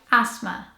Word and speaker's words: asthma: it's actually really simple it has a silent th so it sounds like asthma asthma I hate this